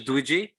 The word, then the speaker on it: Dwiji: Do I pronounce it as Dwiji? Yeah, you got it right.